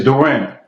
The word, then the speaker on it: Duran: Is Duran or Duran? It's Duran. Duran.